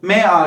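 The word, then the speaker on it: mag: burada böyle telaffuz edilir Bu m a g mak diye okunmuyor ama ma diyorum yani buradaki sesli harfimi uzatacağım Ben Almancada Zaten çoğu zaman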